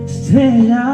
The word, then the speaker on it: estrella: Also, Because there is a Estrella means star. estrella. Because what happens is there is a T and an R followed by a ja sound.